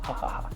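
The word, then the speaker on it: jajaja: In Spanish, J-A is you pronounce the J is ha, so ha ha ha.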